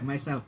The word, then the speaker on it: MYSLF: Ini bacanya gimana? Misslet gitu. Ya, myself. Anggaplah myself gitu ya.